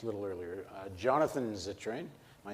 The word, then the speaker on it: Zittrain: were at just a little earlier uh Jonathan zitrin am I saying it right yep he is